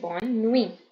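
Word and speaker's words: bonne nuit: u i t okay we not pronounce t we'll say Bon new okay till we only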